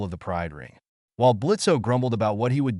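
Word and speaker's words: Blitzø: to do that here blitzo the O is silent the Imp in charge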